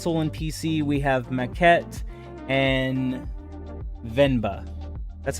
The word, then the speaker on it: Venba: And then for console and PC, we have Maquette and Venba. That's how you say it, right? Yeah, Venba.